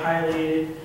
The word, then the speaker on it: Pileated: the work of a pated woodpecker now you may have heard people call him Pileated pated Pileated both pronunciations are correct I just have to prefer P yellow belly sap suer